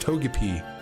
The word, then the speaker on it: Togepi: It's pronounced Togepi.